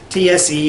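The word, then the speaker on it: цай: And in Mongolian it's expressed in Mongolian Cyrillic as TSE. And that's also the word for T. TSE is how you say T.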